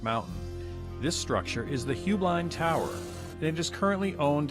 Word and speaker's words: Heublein: tower or is it high blind tower there's actually three pronunciations high blind is the family hubline is the business and the actual correct bavarian pronunciation is boyblind however you choose to